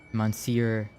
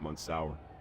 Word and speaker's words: Monsieur: It's pronounced Monsieur Saxabar. Monsieur. No, not Monsour. Monsieur.